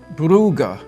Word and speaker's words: Brugge: We are in the city of Bruges, which locals pronounce Brugge.